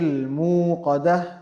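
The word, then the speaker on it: المُوقَدة: Then we have the word al-muqadah, Narullahi al-muqadah. The lam we have is lam al-qamariyah, not silent but pronounced.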